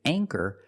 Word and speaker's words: anchor: With anchor, the ch makes the c- sound. So for that reason, we pronounce the a with a long a sound.